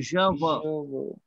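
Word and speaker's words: je veux: तो फिर सर हम इसको प्रोनाउंस कैसे करेंगे? ज व, क्योंकि EUX साउंड क्या है सो ज व।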